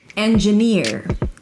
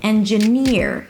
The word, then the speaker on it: engineer: Here the primary stress is on the last syllable. En-j'-NEER. It is not ENgineer. en- juh-juh - schwa. So there is no A. It is not n-j. En-j'-NEER, as in here, so it's a high E and then you relax it to an R or tense it.